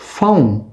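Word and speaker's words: phone: இந்த போன் என்ற சொல்லை அவர்கள் பவுன். பவுன் என்று சொல்வார்கள். போன் அல்ல பவுன் என்று சொல்வார்கள்.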